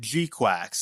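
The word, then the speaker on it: GQuuuuuuX: the new uh Gundam uh so it is pronounced gqu that's what they say in the movie right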